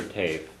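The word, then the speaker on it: taobh: Yeah, and Tiv you can pronounce Tiv or Tave. You hear it both ways.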